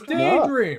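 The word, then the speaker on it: Daedream: Daedra? Or something like that. No, it's Daydream. It's called Daydream. It is called Daydream. But it's spelled like the Yeah, it is a Daydream.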